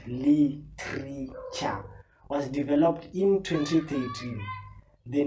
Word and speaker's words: Litreecha: The brand Litreecha, pronounced Leetreecha, was developed in 2013.